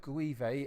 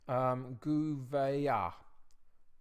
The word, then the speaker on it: Gouveia: the Portuguese word says mine's more French in terms of my pronunciation of it I'm sort of smoothing out all the letters into one sound rather than pronouncing the sounds of each of more of the letters in that sense so I think it's more instead of greevey it's more like to be Gouveia Gouveia I think so we're gonna try